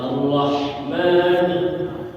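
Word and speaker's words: الرحمن: ya bismillahirahirrahmanirrahim ya Arrahman rnya itu harus ada tasdid jangan tanpa tasdid gimana contoh tanpa tasdid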